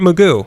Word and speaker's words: Mugu: Point Magoo. Like Magoo. Magoo. M-U-G-U. Magoo.